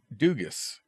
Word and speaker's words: Dugas: You don't pronounce the S in Dugas. Duga. Duga.